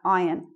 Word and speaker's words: iron: We don't say the R. It's just like that. Iron.